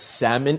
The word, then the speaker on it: salmon: Salmon pronounced with an L. Yeah, it's salmon. Even I'm dyslexic and I don't say salmon, I know it's salmon.